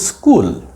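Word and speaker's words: school: উচ্চারণ করতে হয় কিন্তু মনে রাখবো যদি এস চলে আসে সেই খ এর আগে তাহলে সেটা ক হবে সিম্পল ক সো এটা কিন্তু স্কুল হবে না হবে স্কুল এটা হচ্ছে আই এই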